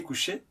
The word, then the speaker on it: couchée: Avec un sujet féminin, ça se prononce de la même façon, mais on ajoute un « e » quand le sujet est féminin.